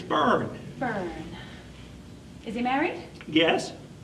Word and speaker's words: Byrne: It's Byrne.